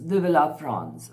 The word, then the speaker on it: Vive la France: Vive la France. Okay, in French, that's the pronunciation.